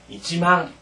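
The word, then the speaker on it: 一万: 그 다음에 만을 할 때는 잊지망, 반드시 이제 이를 붙여서 잊지망 이렇게 발음해야 됩니다.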